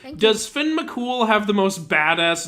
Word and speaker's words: Fionn mac Cumhaill: So when I found out it's pronounced Finn McCool, I was like, "Oh, you Oh, you got to be kidding me.